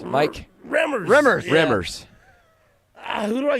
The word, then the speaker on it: Remmers: Reimers. Mike. Remmers.